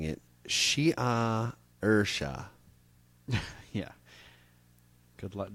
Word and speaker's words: Saoirse: Before kissing the name with his lips and pronouncing it Shia Ursha. Yeah. Good luck. The letters don't match up to the sounds in Irish.